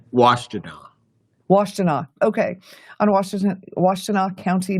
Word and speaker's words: Washtenaw: It's Washtenaw.